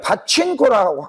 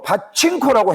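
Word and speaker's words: パチンコ: 그러니까 바친코라고 하면 안 되고 이게 일본에 그 내가 좀 유관을 하기 위해서 하는데 일본에 내가 일본을 공부를 했기 때문만면이 어문 일본의 어문 법칙이 뭐냐면 가기 가기 구개고 앞에서는 예 가기 구개구 앞에이 n 저 n은 뭐냐면 이형 발음을 해야 된다고 돼 있습니다. 예 뒤에가 자 그러면 파칭코라고 해야 되는게 발음이 정확합니까? 그렇죠.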